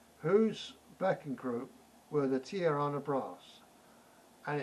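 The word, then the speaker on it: Tijuana: group group were the tirana brass they've got a j in that name which don't get used it's spelt i j u a n a whose backing group were the tiarana brass and it's herb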